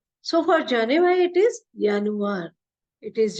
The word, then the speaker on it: Januar: with joury world so for Janu it is yanu it is j n u a r but is pronounced as the in a German so it